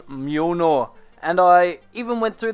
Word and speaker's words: Mjölnir: It's Mjölnir.